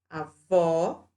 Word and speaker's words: avó: Então, avô tem o som fechado, avó tem o som aberto.